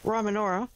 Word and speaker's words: Rymanora: Rymanora. Rymanora? Okay, Rymanora. Exactly. Maggie said Rye, so I'll say yes, exactly Rye.